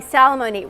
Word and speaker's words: Salamoni: He told me Salamoni rhymes with alimony.